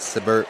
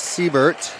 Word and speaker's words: Siebert: I was pronouncing that one wrong. I said Siebert, but it is Siebert.